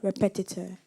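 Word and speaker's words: repetiteur: foreign thank you am I pronouncing the word correctly repetitor yes repetitor are e p e t i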